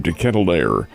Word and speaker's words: De Ketelaere: 3 minutes later, here comes, and I think he pronounces his name De Ketelaere of Belgium.